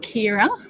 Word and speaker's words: Ceira: So Bub is called Kira, spelled with a Ceira, which is a Spanish Welsh name meaning dark-haired.